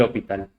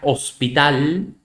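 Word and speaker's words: L'Hôpital: factor yo nuevamente se llaman la regla del hopital la regla del hospital que se pronuncia si el hospital bueno igual mi francés no es tan bueno pero de por ahí que no se pronuncia hospital no es la regla de hospital ni tampoco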